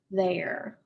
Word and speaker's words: there: is pronounced air there it kind of sounds like a long a sound not an e at all so this is the word there their favorite sport is